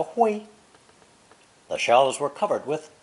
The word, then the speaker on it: 灰: It's pronounced first tone, 灰, 灰, and means ashes, dust, or ashen in color, gray.